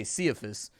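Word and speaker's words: Ciaphas: then like you know there's no soft c in latin oh really well there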